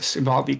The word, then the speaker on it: Uvalde: 2 adults in I can't remember how to pronounce the name of the town. Uvalde, Texas. Uvalde, thank you.